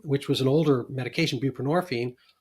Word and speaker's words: buprenorphine: And so it it actually that that formulation became the basis for Suboxone um which was an older medication buprenorphine and rhymes with morphine as a narcotic itself.